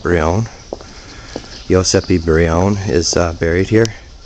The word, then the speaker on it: Brion: Locals say Brion, but Elio, who just showed us through, called it Brion.